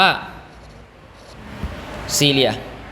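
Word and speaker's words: cilia: เนี่ย ขน เล็ก ๆ นะ ครับ อ่าน ว่า ซีเรีย ขน ซีเรีย เป็น คน เล็ก ๆ รอบ พารามีเซียม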